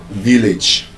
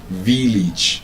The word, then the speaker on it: village: When you have the letter A in A G E, that A would usually give you the short I sound.